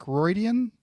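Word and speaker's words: Riordan: I always get his last name wrong, but it's Rick Roydian.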